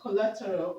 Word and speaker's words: collateral: collateral okay coal okay the word collateral ends with a so we're going to Str the thir level from the end okay the thir from the end collateral it has it has four levels okay one two three okay so the stress is here um the word